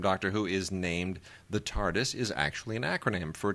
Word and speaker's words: Tardis: Who is named the Tardis is actually an acronym for Time and Relative Dimension in Space and one needs to hear a Brit pronounce it as the r sounds somewhat silent check check out the